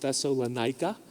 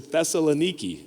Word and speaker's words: Thessaloniki: And I know like some of you have heard that pronounced Thessalonica, but I was going over this with Jim Platt, and I said Thessalonica, and he said, that's not the way you say it. I was like, all right, Jim, how do you say it? And he said Thessaloniki.